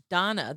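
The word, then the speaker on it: Dhana: By the way, Donna, the second form of Lakshmi is spelled D H A N A.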